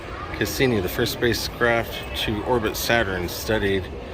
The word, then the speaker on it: Cassini: Alright, so I hope I'm pronouncing it right. I think it's Cassini. Cassini, the first spacecraft to orbit Saturn, studied it from 2004 to 2017.